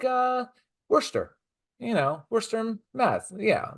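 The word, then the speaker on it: Worcester: know these things yeah Wier is is spelled war sester war sester it's no it's Worster W wer or here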